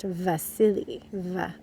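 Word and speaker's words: Wassily: but he was russian so w's in russian often make more of a v sound so his name is pronounced vasily like as if there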